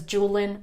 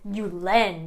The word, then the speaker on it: Julen: to me i mean you could just read it as julian i guess but it's not it's you len baby and this is